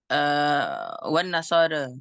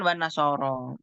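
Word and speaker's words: والنصارى: Nanti waras bacanya wan nasara ya. Ya, innalladzina amanu walladzina hadu wan nasara ya. Ya udah wan nasara. Riwayatnya begitu. Kalau kita kan wan nasoro.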